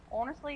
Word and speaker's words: honestly: Honestly, look, you say it with the O, not an H. You make the H honestly, silent.